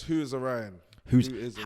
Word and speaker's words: WhoIsOrion: i just asked you again how do you pronounce the whole rap name uh so it's who is orion who is the right where did that come